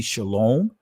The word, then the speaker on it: shalom: other words be quiet it doesn't say shalawah and is the in the israeli pronunciation of it will be shalom it says hold your